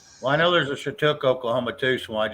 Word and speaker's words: Skiatook: Shiatook area? Where is Shiatook? It's Chatook is how you say it.